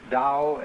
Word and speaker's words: Tao: for the Dal t-a-o pronounced Dao in the Mandarin dialect how in the Shanghai